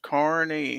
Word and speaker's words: Kearney: Defense Dad says yes, it's pronounced Kearney.